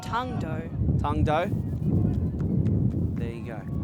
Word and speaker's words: Tung Do: believe it's pronounced tongue dough.